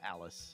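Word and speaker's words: Alys: Which one is it, Elise or Alice? Alice. Alice, okay. Yeah. Alice. I've got to Yeah. find her. I believe that's the commonly accepted pronunciation Mm-hmm.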